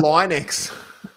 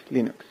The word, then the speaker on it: Linux: I used to call it Linux. Hello, this is Linus Torvalds, and I pronounce Linux as Linux.